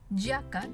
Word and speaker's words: giacca: Ahora, en la columna de la derecha tenemos así, pero se va a pronunciar como you, ¿verdad? You. Entonces, ya, yo y you. Y tenemos los ejemplos, obviamente. Giacca, que significa chaqueta, giorno, que significa día, y giudice, que significa juez.